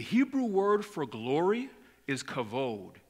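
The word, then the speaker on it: כבוד: word for glory is kavod it's spelled k-a-b-o-d it's pronounced kavod it means glory splendor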